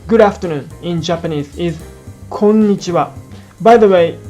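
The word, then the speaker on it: こんにちは: On the other hand, in Kansai dialect, konnichiwa, the accents are on the n and wa parts. Do you hear the difference? Once again, in standard Japanese, it should sound konnichiwa, and in Kansai dialect, it is konnichiwa.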